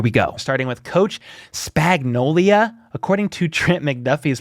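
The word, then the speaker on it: Spagnuolo: Starting with Coach Spagnolia. According to Trent McDuffie's pronunciation, Spags says he isn't going to rush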